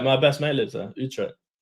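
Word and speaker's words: Utrecht: It's Utre. My best mate lives there. Utret.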